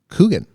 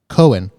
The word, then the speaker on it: Keoghan: It's actually pronounced Coogan. Coogan? Yeah. Okay. Sorry. Cohen. Cohen? Yeah. Okay. It's actually Irish. Oh, that makes sense then. That's why the GH.